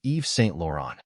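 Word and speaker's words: Yves Saint Laurent: t l a u r orent the correct pronunciation of this word is Eve St lauron Eve St lauron means a French luxury fashion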